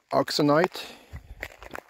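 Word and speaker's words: euxenite: probably hour and a half I really like oxonite that's how you say it so that's what I came here for and I found nice examples of crystals this black blaty uxonite cross sections when Crystal breaks is very recognized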